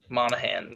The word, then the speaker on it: Monaghan: Oh, Cameron Monaghan? Yeah, Monaghan. That's how you say it.